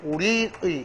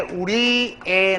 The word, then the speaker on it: 우리의: 아닌지 알 수 있습니다이 조사의는 원래 문법적 형태 의로 발음하는게 맞고 허용하는게 또 애가 있어요 그 예를 가면은 우리의 같은 경우에 우리가 대명사 얘가 관형격 조사면 구조상 드러납니다 자 이럴 경우에 표준 발음은 우리의 나아갈 발을 밝혀 그죠 요거도 맞고 다음에 우리에 나갈 발을 밝혀 되겠습니까 같은 맥락에 강의의